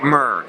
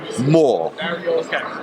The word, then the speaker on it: Moore: There has never been an occasion in the history of Jamie Moore's life where he has been called Jamie Murr.